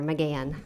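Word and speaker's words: McGahan: your last name again i always say the h is silent pretend it's not there mcgann mcgann thank you you're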